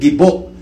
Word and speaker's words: Gibo: Kaya tawag na lang sa sarili niya, Gibo na lang tuloy. No? Katunog pa ng Bibo. Ibang accent, Gibo. Maragsa ang accent. Bibo, sa second syllable ang accent.